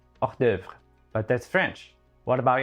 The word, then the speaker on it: hors d'oeuvre: If you are French, you probably have a better idea of how it's said. Hors d'oeuvre.